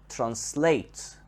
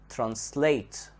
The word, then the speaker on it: translate: second syllable now the word translate translate the stress here is on the second part when we change it